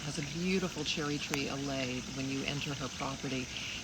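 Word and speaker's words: allée: What's an allay? It's a like row. alley? Like an spelled I guess the same way? No, it's spelled A-L-L-E-E. Oh, okay. But it's basically French for an alley.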